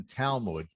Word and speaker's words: Talmud: So I heard that there was a teaching in the Talmud. Did I pronounce that right?